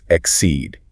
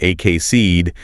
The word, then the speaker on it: exceeded: And if you miss that stress, if you say something like ak seed, the word just loses all its punch. You absolutely must put the emphasis emphatically on that second syllable.